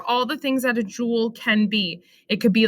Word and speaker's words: joule: it's like kami shibai this says jewel jewel and that's how you show